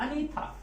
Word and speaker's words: Anitha: लेकिन south Indian language में इसको हम लिखेंगे ANITHA, अनीता। अब हम लिखेंगे THA, लेकिन उसको बोलेंगे अनीता, अनीता में THA।